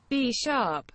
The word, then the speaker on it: Bisharp: B-sharp. B-sharp is how you say it.